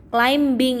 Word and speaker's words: climbing: climbing claiming itu mendaki climbing itu cara membacanya beye nya dihilangkan ya play minyak mendaki doing